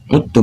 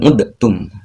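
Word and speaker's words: عدتم: Saya ulangi, wa in uttum ya, bukan udtum. Jadi uttum yang betul.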